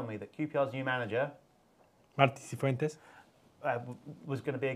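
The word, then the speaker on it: Martí Cifuentes: So is that pronunciation. Marti Cifuentes.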